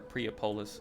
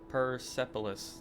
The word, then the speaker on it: Persepolis: Or Priapolis, sorry. Persepolis.